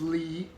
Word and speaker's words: Li: And then this is Lee, L-E-E. This is how we would spell it in English. It's spelled L-I.